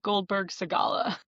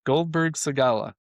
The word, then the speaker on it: Goldberg Segalla: So you're going to have Yeah, to pronounce the name of your law firm. sure. So I am an attorney at Goldberg Segalla. Goldberg Segalla.